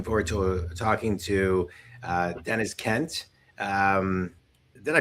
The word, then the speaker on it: Deniz: Looking forward to talking to uh Dennis Kent. Um did I pronounce that right?